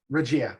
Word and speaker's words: Regia: Regia.